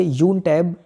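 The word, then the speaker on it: YounTab: 4 जून 2021 को लद्दाख के उपराज्यपाल RK माथुर ने छात्रों के लिए यून टैब योजना का शुभारंभ किया। इसका जो प्रोनाउंसिएशन होगा ये यून टैब होगा, ठीक है।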